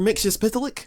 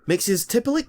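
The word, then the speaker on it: Mxyzptlk: Mixes Pitilik, or as this original version is pronounced, Mixes Tippol, who is a magical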